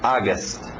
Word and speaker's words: August: a u faz um som som de a August aust engole o p setember setember october october